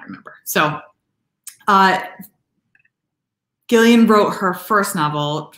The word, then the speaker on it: Gillian: incredibly, incredibly hard to say her name as Gillian, not Jillian.